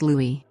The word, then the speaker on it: Louis: his name is pronounced Louis just like The Little Prince of Cambridge or perhaps she's a